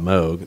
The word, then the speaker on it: Moog: Asheville you know where Moog was with Bob Moog that's what I usually most people in that area call it Moog it's like Appalachian Apple